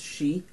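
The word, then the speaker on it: 死: 4 in Cantonese is a two-letter word, S-I, pronounced she, which is death.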